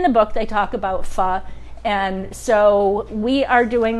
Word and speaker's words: pho: are doing vietnamese food we are doing pho pronounced fall correct and summer rolls vietnamese